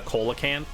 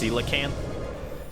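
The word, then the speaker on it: coelacanth: its theme being a colacant or I guess it's technically pronounced cilacanth uh which is a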